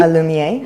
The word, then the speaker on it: Illumier: So now that with Illumier, and it's pronounced Illumier, am I right? Illumier, yes. So it's a French word.